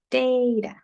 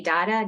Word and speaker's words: data: know it's data yep some people say the ah and some people said a this is that long a so he has a